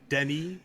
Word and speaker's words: Denis: I want to, direct traffic on the streets of Paris with Denis, which is how you say Dennis in French, by the way.